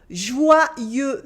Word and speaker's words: joyeux: So repeat after me, Joyeux Noël, Joyeux Noël, Joyeux Noël. Good. Joyeux Noël, Joyeux Noël. As you can hear, the X at the end of joyeux is silent, and this weird letter